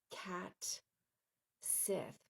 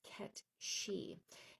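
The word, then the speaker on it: Cat Sìth: And it's it looks like it's spelled like cat Sith, but it's K she.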